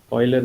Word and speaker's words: Euler: Euler is the way we pronounce his name.